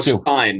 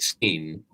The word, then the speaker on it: Rothstein: But most people fuck it up, but I always just go by the because they usually go Stein, not Steen.